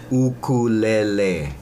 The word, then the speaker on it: ukulele: in our classes is the proper pronunciation it's ukulele okay and what does it